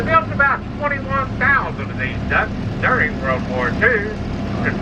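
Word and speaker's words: DUKW: This duck is spelled D-U-K-W.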